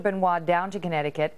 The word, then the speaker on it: Benoit: Chris Benoit, I was pronouncing that incorrectly earlier, killed his wife and his 7-year-old son before committing suicide in 2007.